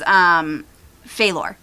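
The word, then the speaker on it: Feilor: His name is Phalor. Spelled F-E-I L-O-R. I fucked that up. Just write things phonetically anyway.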